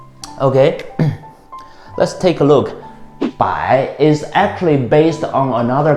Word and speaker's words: 百: When you pronounce this third tone, it's a little bit tricky. Look at my head. It goes down first, then goes up. 百, 百, 百.